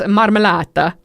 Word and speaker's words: marmellata: And it's marmellata.